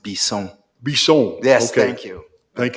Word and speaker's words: Bisson: Just, Chairman, for everyone's benefit, it's pronounced Bisson. Bisson.